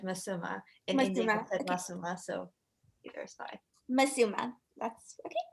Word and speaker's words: Masuma: west um but in the west it said masuma so either spy masuma that's okay okay cool